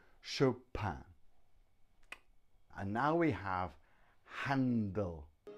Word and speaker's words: Chopin: pin but show pan-pan which is a very French pronunciation Chopin and now we have